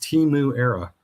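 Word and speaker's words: Temuera: Every time you see his name, it's pronounced Timu Era, as opposed to. It's just a play on words. Timu Era. Like we're in our Timu era.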